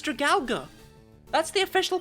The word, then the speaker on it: Dragalge: That is actually Dragalga. That just sounds awful. I'll always say Dragalge. One of the only Pokemon whose names I actually say wrong. Because I disagree with the official pronunciation. If you wanted it to be Dragalge, you should have put the extra A in.